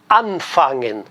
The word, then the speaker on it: anfangen: se junta ao fangen esse an ele diz a regra que é sempre tônico então todas as palavras todos os verbos começados pelo prefixo an a sílaba tônica tá no an anfangen nós sabemos que não